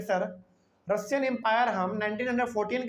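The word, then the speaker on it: Tsar: टी एस ए आर इसमें T silent होता है अब इसको क्या पढ़ेंगे सार निकोलस सेकंड यहां पे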